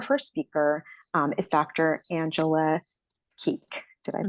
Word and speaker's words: Kueck: Angela Kueck. Did I pronounce it correctly?